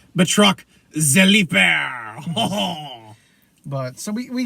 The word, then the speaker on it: Batroc: That's why I always say his name is not Batroc the Leaper. It's Batroc the Leaper.